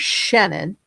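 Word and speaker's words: Chenin: There's Shannon, CH H N I N, which is a white grape varietal and dominant in the central L for its amazing high acid, incredibly refreshing white wines. And then there's Shenon, C H I N O N, and these are Capernet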